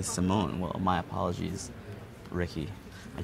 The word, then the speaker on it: Simon: comm telling me that the pronunciation for Ricky Simon is not Ricky Simon it's Ricky Simone well my apologies Ricky